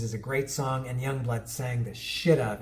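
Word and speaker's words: Yungblud: of, similar to Sleep Token, a guy called Young Bloodood, spelled Yu, as I learned later.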